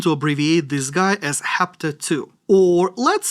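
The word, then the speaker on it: hapto: is also going to have superscript, but we pronounce that as hapta and not eta, because why make things easy, I guess?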